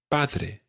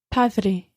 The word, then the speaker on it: padre: A wee tip with the pronunciation here. If you imagine air coming through your mouth, it comes up from your lungs and it comes through your mouth and out. And when the air comes out, sometimes you stop the air coming.